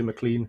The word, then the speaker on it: McLean: No, it's a bit funny, really, because Scottish people always tell me that my name's McLean. So they always say, "Oh, you're saying your name wrong," but it's my name. I say McLean, so right.